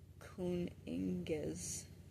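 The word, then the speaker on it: cyning: The Germanic development, Proto-Germanic, Kuninges, tribal leader, Old English, kinging, pronounced roughly kuning.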